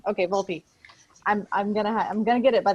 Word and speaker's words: Volpe: VOLPE. VOLPE. Okay, VOLPE. I'm gonna get it by the end of the session. Each year, we offer substance abuse training workshops for Missouri transit providers through VOLPE.